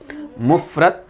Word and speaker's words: مفرد: مفرد۔ بھائی اس کو مفرد یا مفرد ایسا نہیں بولنا چاہیے، صحیح لفظ کیا ہے؟ مفرد۔ دوسری قسم کا نام